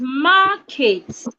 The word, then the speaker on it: market: okay the word is market please watch my mouth ma kate ma kate yes the word has two syllables the first syllable has